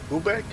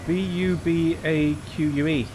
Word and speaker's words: Bubaque: That would be Bubaque, I would say. B-U-B-A-Q-U-E. Yeah. Bubaque. Bubaque. Yeah. Ish.